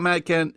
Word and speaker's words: Matt Kindt: about Matt Kindt is the D is silent. You know what I mean? Mm-hmm. And you think you're going to get it, but then you're not sure. You think he's Matt Kind. Yeah. But he's not.